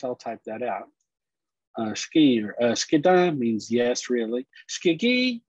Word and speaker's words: sgi: they use shiki now i spell it funny here s-h-k-i because um that's kind of how it's pronounced but if you look in the chat the way they spell it is sgi that's how it is in phonetics ski and that's the eastern